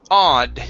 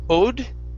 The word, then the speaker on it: odd: here is the word odd instead of ode okay this is an ah sound as well odd okay all right